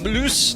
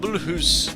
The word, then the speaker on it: Mulhouse: It's Mul Mulus, not Bulus.